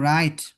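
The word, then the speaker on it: write: আছে পরে আর থাকলেড ডাবলিউ এর উচ্চারণ হয় না বরং আর এর উচ্চারণ হয়।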